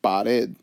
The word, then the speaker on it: pared: So if we look at the first word, pared, again, we divided pared, two syllables. We divide it right between here, pared. When I pronounce the word pared, my voice goes up on the E.